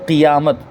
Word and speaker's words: قیامت: میں جو لفظ ہے اس کا صحیح تلفظ ہے قیامت، قاف کے نیچے زیر ہے، قرآن مجید کے اندر زیر کے ساتھ ہی آیا یوم القیامہ، تو قیامت بولیں تو یہ صحیح ہوگا، لیکن عام بول چال